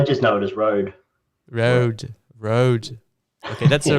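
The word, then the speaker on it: Rode: But how you pronounce it in Australian actually? That's I just know it as Road. Road.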